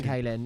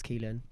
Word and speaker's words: Keelan: And sorry for pronouncing your name wrong. Yeah, we initially. were saying Kaylin. It's Keelan.